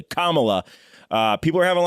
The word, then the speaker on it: Kamala: guys so finally most importantly her name is pronounced comma la c-o-m-a dash love phonetically kamala uh people are having a lot of trouble